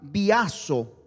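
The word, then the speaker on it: βιάζω: Y es la palabra biazo. Biazo con B larga y con Z. Biazo. Y tilde o acento en la A.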